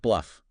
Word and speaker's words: BLUF: Pronounced bluff. It stands for bottom line up front.